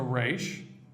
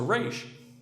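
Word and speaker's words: ריש: But the other hard letter is a resh, because a resh trills.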